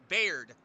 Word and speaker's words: Baird: Nobody knows how to pronounce it, so Baird.